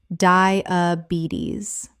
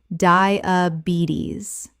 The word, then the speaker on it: diabetes: Diabetes. Correct pronunciation. Diabetes. The stress is on the third syllable, and the final S makes a Z sound.